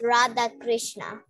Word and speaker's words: Radha Krishna: we are the source it's supposed to be pronounced Radha Krishna okay so let us see okay so we